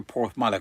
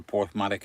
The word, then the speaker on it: Porthmadog: Am I near Porthmadog? I don't know, mate. I don't know where Porthmadog is.